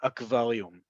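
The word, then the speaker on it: אקווריום: Remember, look at this word, akvalium. Okay, you see here, the second to last letter is a vav, but we don't pronounce it like va, we pronounce it like u.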